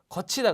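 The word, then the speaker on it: 걷히다: 거치다 그러죠, 거치다, 그죠? 거치다. 근데 여기서도 디귿이 치읒으로 발음은 났지만 그냥 디귿으로 쓴다라는 거죠.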